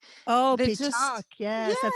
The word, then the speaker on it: pétanque: Yeah, no, pétanque. Oh, pétanque.